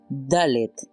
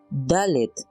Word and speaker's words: Dalet: La siguiente es Dalet. Cuando posee el puntito, su sonido es oclusivo, pero cuando carece de dicho puntito es fricativo. Entonces ya no pronunciamos Dalet, ahora pronunciamos Dalet.